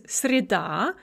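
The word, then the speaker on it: среда: note that stress shift the nominative is srida with the stress on the second syllable but the accusative is with the stress on the first syllable and this is a very common stress shift for disyllabic feminine nouns srida va schitferk on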